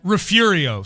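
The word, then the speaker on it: Refugio: Um Rafurio. Sorry, I didn't know that. I mispronounced it. Yeah, the G is pronounced like an R.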